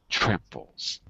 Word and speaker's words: tramples: So that little symbol before the T shows you the stresses on the first syllable. Tramples. Everyone say that. Tramples. Tramples. Tramples, like a Z sound. Tramples. Tramples. Z, not S.